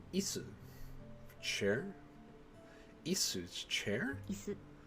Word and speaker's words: 椅子: Isu. Chair? Isu's chair? 椅子 It's like the word is in English, but it's not. It's isu.